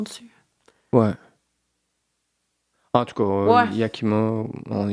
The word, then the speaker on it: Yakima: Yakima, YKK. Yakima, comme ça se prononce.